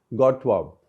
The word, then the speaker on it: Godthåb: In Danish way, it'll be pronounced as Godt våb. Something like that. I may not get that perfectly right.